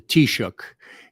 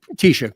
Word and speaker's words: Taoiseach: it like a real Irish person, but the Taoiseach is the prime minister. And it was a guy named Leo Varadkar, who was the first gay and, Asian let's just say Taoiseach, Prime Minister of Ireland.